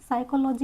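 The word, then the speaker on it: psychology: साइकोलॉजी यहां पे भी हमारा पी प्रोनाउंस नहीं होता है।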